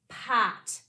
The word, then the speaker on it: potion: In potion, the O is at the end of the syllable. This is an open syllable. So this O, like most open syllables, has a vowel sound that makes the long sound. Po. Now we need our second syllable. You might be wondering how you spell sh without S and H. In this word, we spell sh with the T-I blend, and we end it with in.